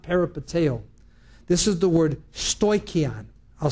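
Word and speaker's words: στοιχεῖον: This is the word stoikion. I'll spell it.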